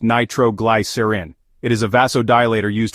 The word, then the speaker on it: nitroglycerin: insulin masking hypoglycemia symptoms nitroglycerin or nitrostat is pronounced nitroglycerin it is a vasodilator used for Angina which